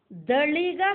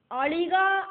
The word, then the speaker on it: அளிக: நம்மளோட லலிதா சகஸ்ரநாம புக்கில் அஷ்டமி சந்திர விப்ராஜ தளிக ஸ்தல சோபிதா அப்படின்னு எழுதியிருக்கும். இந்த நாமத்துக்கு உள்ள இருக்கிற பதங்களை நம்ம தெரிஞ்சுண்டு இத வாசிக்கிறத தளிகா அப்படின்னு வாசிக்க கூடாது அப்படின்னும் அளிகா அப்படின்னாக்கும் நம்ம ப்ரொனவுன்ஸ் பண்ணணும் அப்படிங்கிறதும் நமக்கு தெரிய வரும்.